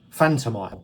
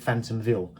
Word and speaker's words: Phantomile: Phantomile. I always call it Phantomville. Phantomile. Um, clono daughter fan uh phantom phantomile. Sorry, I always pronounce that wrong. I always go to say phantomville, but it's phantom.